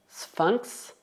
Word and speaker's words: sphinx: Enquanto nas palavras un lynx e un sphinx, o X é pronunciado X, X.